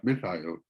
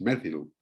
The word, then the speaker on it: methyl: Porque en inglés británico, metil, este metilo, el grupo metilo, se pronuncia methyl, methyl. En cambio, en inglés estadounidense, es methyl.